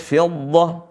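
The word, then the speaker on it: فضة: W Aswi nah sini teman-teman seringki membacanya dengan mim jadi dibaca dengan mim Fid bukan mim bukan bibir ketemu bibir tapi gigi seri bertemu dengan bibir bawah min fidoh min fidoh baik w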